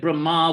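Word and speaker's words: Brahmā: to an immobile plant don't get Brahma with a long a confused with Brahman Brahman with an N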